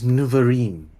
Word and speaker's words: Nuvorine: should be in order my name is nuvorine as in wolverine how do you spell